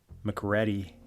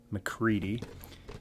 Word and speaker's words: MacReady: though that looks like it's supposed to be pronounced mcready it's actually mccready a picture of the helicopter on the side